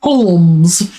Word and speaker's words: Holmes: which the fictional character / literary juggernaut Sherlock Holmes and all the subsequent adaptations thereof still exist. Sherlock Holmes, pronounced Holmes, as he is constantly reminding Holmes,